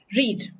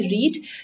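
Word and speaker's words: read: change हो जाती है फर्स्ट फॉर्म में इसकी प्रोनंसिएशन रहती है रीड सेकंड और थर्ड में इसकी प्रोनंसिएशन रेड ये हो जाती है देखिए ये वर्ड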